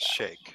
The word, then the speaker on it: sheikh: What's the proper pronunciation for that? Shake. I think shake is more appropriate.